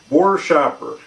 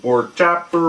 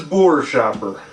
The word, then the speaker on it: Buerschaper: it's Bor Shopper um easiest way to think of how to pronounce it is is an and